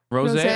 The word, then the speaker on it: Rosé: of them hate Lisa, some of them hate Rose. Jenny? Rose. Rose. Rosé?